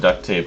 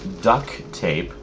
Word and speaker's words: duct tape: well so it's funny it used to be called duct tape cuz you would use this to seal ducts and stuff I think so many people pronounced it duck tape that now there's actually a brand that just calls it duck tape so funny how